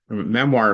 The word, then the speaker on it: memoir: And you know, if you go to the bookstore and ask for memoirs, um it's actually pronounced memoir. It's a French word.